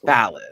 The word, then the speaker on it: Fallon: My name is pronounced Alan with an F in front. Fallon.